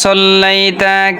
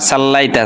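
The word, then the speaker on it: صلّيت: ওয়ালা আলি মুহাম্মদ কামা সলাইতা কামা সাল্লালাইতা অনেকে পড়ে কামা সাল্লাইতা সিন না এটা সদ যখন সদের জায়গায় আপনি সিন উচ্চারণ করবেন তখন অর্থ পরিবর্তন হয়ে যাও অর্থ পরিবর্তন হয়ে গেলে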